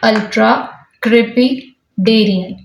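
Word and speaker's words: ultracrepidarian: You can break the word and pronounce it like ultra-crepidarian, जिसकी meaning बहुत ही ज़्यादा interesting है।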